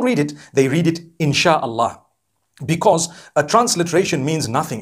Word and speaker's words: inshallah: Sia Allah, the S-Y-A, they pronounce the S-Y the way we pronounce S-H. So they can write it how they want for as long as when people read it, they read it insha'Allah.